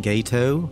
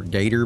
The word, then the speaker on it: gato: um i'm pretty sure it was just people mispronouncing the word gato they saw the word gato and they thought it was short for gator maybe i don't know but obviously it's supposed to be gato it's like mispronouncing tortillas